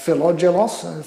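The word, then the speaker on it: Philogelos: jokes so there is a writer um uh philadelos that's the correct pronunciation tonight who assembled what was arguably the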